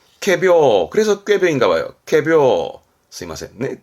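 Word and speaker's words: 仮病: 거짓된 병이네 우리말로는 꾀병입니다 발음 또한 챙기세요 캐비어 합니다 캐 캐비어 비슷하죠 발음이 캐비어 그래서 꾀병인가 봐요 꾀병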